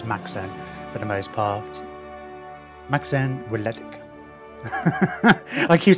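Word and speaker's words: Macsen Wledig: It's a Welsh name, Maxen Weledig. Maxen Weledig. We'll probably just refer to him as Maxen for the most part. Maxen Weledig.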